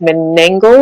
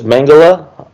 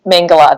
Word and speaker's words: Mengele: talking about joseph mingle is it joseph mengele mengele sorry i'm always saying i think that's i think that's right um i'm not saying though they were more focused on the pronunciation of food and clothing yeah no mengele that's that's right and all these people